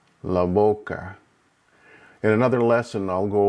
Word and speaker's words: boca: It's almost like a combination of the B and the V at the same time.